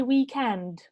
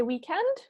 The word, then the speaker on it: weekend: the stress okay so normally we say weekend so when we say weekend the stress would be on the second syllable all right hope that